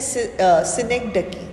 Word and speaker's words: synecdoche: DOCHE, इसकी pronunciation है सिनेक्डकी।